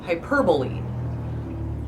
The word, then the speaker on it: hyperbole: I try when I say it out loud to say it correctly, which is hyperbole. But no, it's hyperbole.